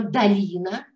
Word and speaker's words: долина: А еще, друзья, мы все прекрасно понимаем, когда произносим слово «долина», мы слышим «а», но почему-то пишем «о», потому что есть проверочное слово «долы».